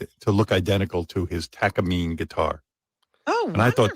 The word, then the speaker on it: Takamine: pronounced Takamine or That's it. Takamine. Takamine.